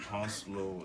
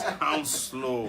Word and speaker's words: Hounslow: And somebody corrected us when you know how we're trying to pronounce that Hounslow. Yeah, it says Hounslow.